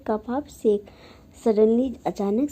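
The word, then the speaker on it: sake: सा is pronounced like फा इन father and के मतलब राइम्स विथ वे इसका जो जापानी में नाम है, इसका नाम फावे है।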